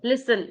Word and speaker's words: listen: i s t n Lan listen listen listen listen yes the last one you have pronounced correctly can you just do it once